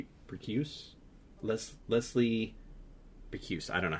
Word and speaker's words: Bricusse: It's, oh gosh, it's like Bricuse? Leslie Bricuse. I don't know how you say it. It's Bricusse.